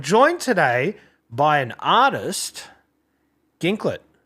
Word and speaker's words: Ginklet: I've I've had people think it's pronounced Jin Clay, but not that it's actually my name.